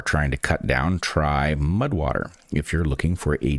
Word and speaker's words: MUD/WTR: All right, our first sponsor for this episode is Mudwater, which is spelled weirdly, as you know. Mudwater, that's MUD/WTR, makes fantastic products, including their